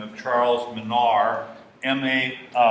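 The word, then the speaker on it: Minard: the name of Charles Manar m-a-m-i-n-a-r-d the D is silent because he was French and then usually the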